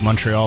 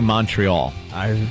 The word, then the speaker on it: Montreal: you're from Canada, but people say Montreal. And then Montreal is how Canadians say it, apparently. And now you've adopted the Canadian pronunciation of what Americans call Montreal.